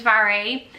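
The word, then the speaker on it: Mhairi: My name's Vary. It's Gaelic and it's spelled M-H-A-I-R-I, and I spell it just to make it easier for everyone else.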